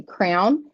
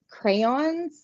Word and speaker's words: crayon: around here is like when I say okay, crown. Like I say it like a crown in your head, but it's crayons. But it feels so awkward to try to say crayon.